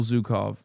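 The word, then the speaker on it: Zhukov: Historically speaking, this is Zukov, not Zuko.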